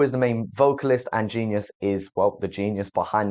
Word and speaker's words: GXNXVS: I had to ask them how to pronounce their fucking name because I looked at the letters and it looked like some Matrix business. Listen, I can't lie, didn't know how to say it, but now I do know.